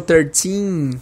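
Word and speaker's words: thirteen: Esse teen tem que ser longo, tem que fazer essa esticada no i. Isso aí é obrigatório. Por quê? Porque, por exemplo, o número 30 em inglês é 30. Se você pronuncia o 13 com esse teen mais curto, você vai dar a entender que você está dizendo o 30 ao invés do 13.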